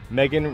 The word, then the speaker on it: Megan: I think we're gonna win because Megan rhymes with bacon.